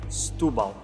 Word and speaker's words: Setúbal: that in european portuguese we tend to smush our words together around the stressed syllable in this case it's the u with the accent on top stupa so you rush